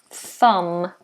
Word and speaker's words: thumb: that famous th and we have a silent B thumb so that's silent and that's to be concentrated on um thumb we don't do thumb just thumb thumb thumb good so we have